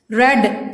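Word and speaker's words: read: My father रेड the news paper. रेड spelling same होंगे, pronunciation में change होगा.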